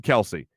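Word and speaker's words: Kelce: Some people are saying Jason Kelsey or Jason Kels. Yeah, it's Jason Kelsey.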